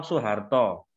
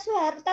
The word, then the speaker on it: Soeharto: Kalau kata Soeharto tadi kan pakai SOE, Pak. SOE. Iya, tapi dibacanya Su, Mbak.